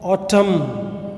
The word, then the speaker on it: autumn: N வந்து இங்கே silent letter. Okay, autumn, எஸ், இலையுதிர்காலம், கார்காலம், மழைக்காலம்னா சொல்லுவேன்.